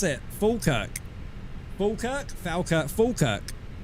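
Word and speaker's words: Falkirk: Fulkerk. Falerk. Fulkerk. It's pronounced fulkerk.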